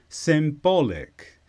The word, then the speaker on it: symbolic: this is an adjective with the stress on ba symbolic and this demonstrates something